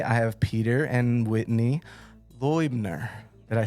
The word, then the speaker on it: Loibner: from me today, I have Peter and Whitney Loibner.